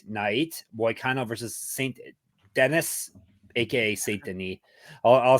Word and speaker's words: Saint-Denis: And today is all about UFC Fight Night, Boycano versus Saint-Denis, aka Saint-Denis. I'll say it properly. Saint-Denis.